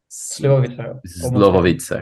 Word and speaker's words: slivovice: How do I pronounce it? Slovovice.